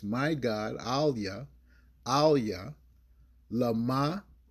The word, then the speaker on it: LaMah: AhlYa, LaMah, IZaBathNaYa. Okay? And I can spell it for you.